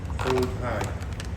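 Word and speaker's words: Auld Hag: Have you been to a Scottish cafe called Old Hag? No. It's spelled AULDHAG.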